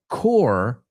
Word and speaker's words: Corps: And the word core, cuerpo, right? Like the militar en esto, organization, cuerpo, así, se escribe corpse, pero se pronuncia core.